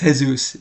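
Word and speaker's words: Jesús: against, I don't know why people call him Jesus Aguilar. It's Jesus. Pronounce it right.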